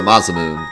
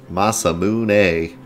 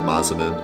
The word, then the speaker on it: Masamune: but think about man masamune yeah I think it's supposed to be pronounced Masamune I think but I always said massaman there's so many things